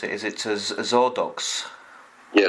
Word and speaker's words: Xordox: us about um the uh I'll try to pronounce it is it zordo yeah zordo uhuh so how did all that come about